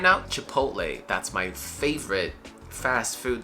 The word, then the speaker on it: chipotle: restaurant and uh chipotle first of all it's a short e sound and then a very soft t going into lay the end is a hey hey you saw me on the street hey right chipotle chipotle chipotle let's